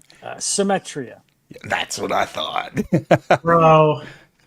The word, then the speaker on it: Symetria: And I don't want to butcher the same the the pronunciation. How do you say the band's name? Symmetria.